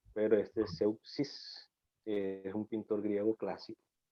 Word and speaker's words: Zeuxis: La primera S no es S, sino un Z. Como Zeus, como el dios Zeus. Exacto, pero este es Zeuxis, es un pintor griego clásico, de la era clásica griega.